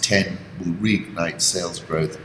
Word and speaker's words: iPhone X: this year on expectations the iPhone X pronounced 10 who read night sales